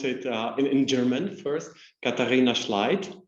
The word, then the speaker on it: Katharina Schleidt: Katharina Schleidt would be the German pronunciation, and simply Kathi.